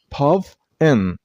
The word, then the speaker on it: puffin: Puffin. And stress on the first one, I mean on puff, puff, in, puffin. The last syllable isn't pronounced as in, it's n. So puffin, puffin.